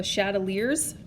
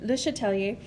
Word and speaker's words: Le Chatelier: by calling it the chateleers principle so um was not a very french accent that that i was taught in so the le chatelier is a better way